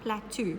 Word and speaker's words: plateau: It looks like it's spelled plateau, but it's not plateau. Remember, we've said this in class as well. It's plateau. Even though it doesn't look like the end of the word is toe, that's how we say it, plateau.